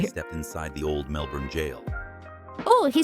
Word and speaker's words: Gaol: I'll never forget the night I stepped inside the old Melbourne jail.